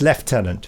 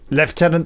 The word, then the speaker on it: lieutenant: spelt lieutenant but in English for the it's pronounced left tenant yes anyway the winner is Duncan Wilson who says left tenant stroke lieutenant green loving the new podcasts bTW